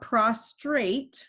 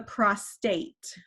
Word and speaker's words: prostate: the prostate okay there's it's not prostrate that means to like lay down to get prostrate on your in front of someone or whatever this is the prostate okay so that's how it is pronounced and it is going